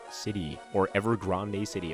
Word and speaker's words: Evergrande: over here leading into Evergrande City, or Evergrande City. It looks more like Grande to me, but apparently the anime pronounced it Grand, and the anime, grand